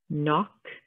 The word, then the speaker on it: knock: Next we have knit, knife, night, knock, knee. So all of these have a silent K in the beginning.